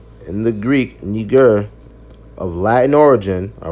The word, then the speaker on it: Niger: Or Niger, properly pronounced Niger because they speak French there, right?